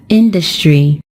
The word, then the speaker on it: industry: is just on the first syllable and we pronounce it as industry when we turn it into an adjective the